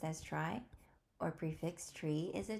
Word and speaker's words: trie: everyone welcome back today we have 208 Implement try or a prefix tree a try pronounced as try or prefix tree is a tree data structure